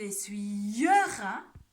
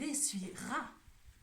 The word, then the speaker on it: essuiera: On ne dit pas il essuiera, on prononce il essuiera. Est-ce qu'on entend le E? Non. Donc ce E, les amis, c'est un E muet.